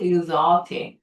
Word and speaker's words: exotic: exotic이라고 읽어야 돼. Z 발음이야. exotic.